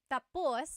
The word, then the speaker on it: tapos: So, when it's tapus, when the emphasis is at the end, tapos, that means finished. When the emphasis is on the first syllable, then it means next.